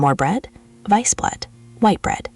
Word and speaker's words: Weißbrot: Weißbrot, सफेद bread. Weißbrot. SS का उच्चारण डबल S की ध्वनि जैसा होता है, है ना?